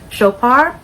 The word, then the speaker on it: Chopard: So this is Happy by Garadia by Chopard. I hope I'm saying that brand's name correct. I believe the D is silent.